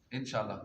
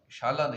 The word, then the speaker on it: انشاءاللہ: اس کا مطلب ہے۔ اکثر لوگ اس کا تلفظ غلط ادا کرتے ہیں اور صحیح ادا کرنے کی مشق کرنی چاہیے۔ انشاءاللہ، انشاءاللہ کہ کہتے ہیں انشاءاللہ، شاءاللہ نہیں ہے، انشاء آگے اوپر مد ہے، انشاءاللہ۔ نارمل کیا پڑھتے ہیں؟